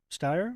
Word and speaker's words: Steyer: Previous guest Julia Steyer, Rhymes with Fire.